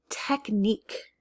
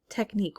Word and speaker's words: technique: lot of mosquito bites technique technique once again i'm not making any sort of sound so that q u is serving as a c technique a technique is